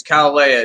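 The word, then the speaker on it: Caol Ila: It's Calalea. It's spelled weird, though. It's like Coalila. But it's pronounced Calalea.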